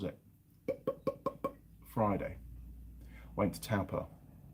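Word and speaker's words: Taupō: friday i went to taupa or torpor as mrs mechanic calls it it's a talper i'm yorkshire i say it's spelt that's how you say it um and we got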